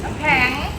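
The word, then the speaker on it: น้ำแข็ง: กัน อยู่ นะ ครับ น้ำ แข็ง เออ ไม่ ใช่ น้ำ แขง น้ำ แข็ง เธอ ถ้า ถ้า เธอ เธอ จะ ออก เสียง แบบ ภาษา กลาง จริง ๆ ต้อง วง น้ำ แขง เข้า ใจ มย แต่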